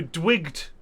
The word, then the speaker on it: Dwight: Dwight is spelled Oh, D-W-I-G-T, no H. So Dwigged. Dwig, yeah.